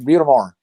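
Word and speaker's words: Butte des Morts: Like Butamort is how locals pronounce it, and it's French for Butte de Morts, which is Bluff of Death.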